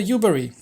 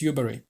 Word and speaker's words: Yubari: The Yubari. I keep forgetting how they're pronounced. I think it's Yubari.